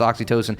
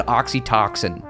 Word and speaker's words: oxytocin: it was spelled oxytocin it's just how it's pronounced oxytocin and she said oxytoxin like you could just it was just a